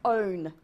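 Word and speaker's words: -one: And it ends in O, not one. It's pronounced own.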